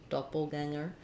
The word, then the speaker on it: doppelganger: In any case, this is an mm sound and there's no g sound. Not ganger. Um so unlike danger um which has the dan where the g says the j sound danger um or finger where we have the ng sound plus the g sound, finger. In doppelganger, ganger is just an ng sound like same as in singer or a good one